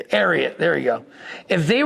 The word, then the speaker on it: Ariat: If these boot if the boot company Aat, I don't know how you pronounce it. Is that the right way to I say Ariat. Ariot.